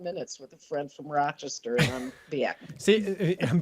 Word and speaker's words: Rochester: A photojournalist who told me that it's not Rochester. He says it's about a syllable and a half. It's Rochester. But it's a long says it's mostly like most of the emphasis on the ra, and then it's like it's just a blink of an eye.